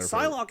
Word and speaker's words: Psylocke: Psylocke, I never heard of this character, to be completely honest.